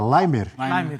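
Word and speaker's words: Laimer: Qual é a pronúncia certa? Limer. É austríaco, não é austríaco. Então é limer.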